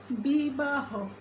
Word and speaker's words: বিবাহ: আবার অন্তে অর্থাৎ শব্দের শেষে যদি হ ধ্বনিটি থাকে, তাহলেও আমরা সেই হ ধ্বনি অর্থাৎ যার সঙ্গে অ যুক্ত রয়েছে সেই অটিকেও আমরা ওয়ের মতো উচ্চারণ করব। যেমন বিবাহ, বিবাহ, তারপর সমীহ, সমীহ